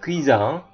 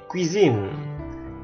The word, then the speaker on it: cuisine: Oke, jadi bukan cuisine. Nah, ini n-nya diikuti huruf vokal lagi. Jadi cuisine dapur.